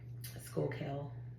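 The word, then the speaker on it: Schuylkill: like to say that's out that way um Skool kill yeah I mean yeah I think that's how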